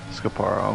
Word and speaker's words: Scaparo: Did we decide how to pronounce that? Scaparo, Scaparo? Scaparo, okay. So I think Scaparo's time has got to be the cutoff point.